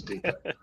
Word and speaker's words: Depot: Depot which you know if far us use the English pronunciation would be Home Depot but just does sound a bit silly saying Home Depot when everybody is a Depot so was in Home